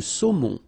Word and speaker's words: saumon: Le thon, la dorade, la morue, final E not pronounced, le saumon, O-N, remember, nasal in your nose, saumon, le bar, le merlan, la raie, la sardine, l'aigle fin, la limande sole.